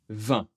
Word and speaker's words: vingt: Je prononce le ? 20. Non. Eh bien, voilà, deux lettres pas prononcées, 20. Pensez un peu à boire du vin. C'est exactement la même prononciation.